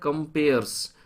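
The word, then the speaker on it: comperes: ये वाला जो होता है, ये होता है कंपेयर्स, भले ही ये ई है लेकिन इसे प्रोनाउंसिएशन कहते हैं कंपेयर्स, ये है कंपियर्स।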